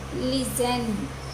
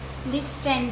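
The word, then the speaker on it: listen: इनमें देखिए एस के बाद में टी है, सो ये टी साइलेंट है। क्रिस्टमस नहीं कहनी चाहिए, क्रिसमस। लिजन, लिस्टन नहीं है, लिजन।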